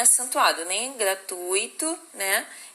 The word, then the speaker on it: gratuito: caneta é gratuito gente gratuito é uma paroxítona tá não é gratuito tá bom É gratuito junto beleza e Pública pública